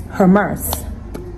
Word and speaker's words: Hermès: Hermès Birkin. I'm sure at the end of this video, Hermès is going to hire me. Is it pronounced Hermès or Hermès or? It's Hermès.